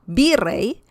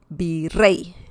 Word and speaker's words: virrey: For example, virrey. and that means viceroy. So virrey. Rey has the stress. Rey, virrey. It's not virrey, it's virrey.